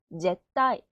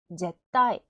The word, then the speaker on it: 絶対: 절대는 제, 윽, 타, 이네, 제따이, 제따이.